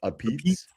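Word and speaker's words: apizza: But it was a place called Ozzy's A Pete's, because everything there it's not pizza, it's A Pete's, which looks like a pizza, but it's pronounced A Pete's.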